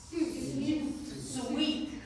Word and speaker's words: suite: Okay, suit. Sweet? Sweet, yeah. So sweet, like bittersweet, like sugar is sweet. So S-W-E-E-T. So we would pronounce it the exact same way, except it's written like that. So a hotel suite.